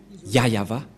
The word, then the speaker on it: Yah Yahvah: et donc c'est bien la vraie prononciation de son nom yayava voilà le ya et